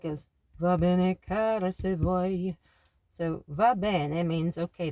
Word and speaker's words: vuoi: It actually rhymes with puoi. And it's V-U-O-I. Vuoi.